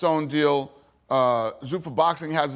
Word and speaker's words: Zuffa: Now, how do you pronounce it? Zuffa? Yeah, Zuffa, yeah.